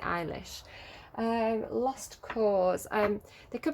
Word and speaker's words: Eilish: know his name right i always call it elish but i think she pronounces it eilish lost cause um there